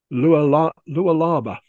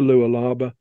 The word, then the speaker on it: Lualaba: and then there's going to be the river Lualaba, let's say it properly. And there's a photograph of one of the launches in the Lualaba.